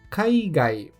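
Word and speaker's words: かいがい: Como também temos kaigai.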